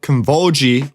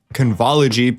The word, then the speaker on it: Convology: It's called Convolgy, which I'm saying Convolgy rather than Convology because that is how it is said in the videos by the company.